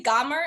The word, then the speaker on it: Gaumer: Do you say Gaumer? Is that how you say it? Yes. Gaumer.